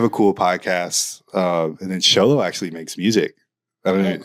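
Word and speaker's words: Xolo: Sholo. Yeah. I thought it was Waho or something. Yeah, Sholo.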